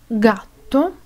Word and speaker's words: gatto: es la g y se pronuncia G cuando está delante de la a o u gatto gobba gustare se pronuncia cuando la